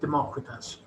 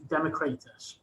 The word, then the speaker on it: Democratus: democracy led to democratus that's how why we pronounce it democritus i have been told by a very good free greek friend of mine it should be democratus because it's like um kratos um the the